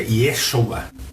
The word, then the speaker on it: Yeshua: Hoje em dia já não se fala mais a forma como se falava antigamente, é Yeshua, né? Não se fala Jesus.